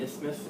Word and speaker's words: isthmus: You almost have to say it like you have a lisp, the isthmus.